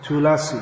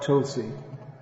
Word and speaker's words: tulasi: telugu so i'm told it's tulasi not tulsi in tamil tulasi they're